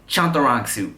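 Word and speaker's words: Chantarangsu: So in case you didn't know, my government name is Tim CHAHN-TAH-RAHNG-SU. Tim CHAHN-TAH-RAHNG-SU.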